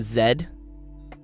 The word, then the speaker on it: Z: People don't. Only the Americans say Z. Even Canadians say zed. Everyone else that speaks English also says zed. So it's The American The American Z is the exception, not the rule.